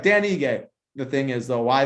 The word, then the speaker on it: Ige: Is that how you pronounce his last name? Ige. Yeah. Ige.